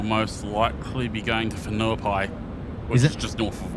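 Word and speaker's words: Whenuapai: We will most likely be going to Fenuai, which is just north of Oakland. Fenuai spelled with a W.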